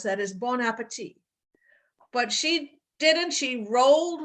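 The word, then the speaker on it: bon appétit: Most people would have said, actually, the way you're supposed to pronounce that is bon appetit.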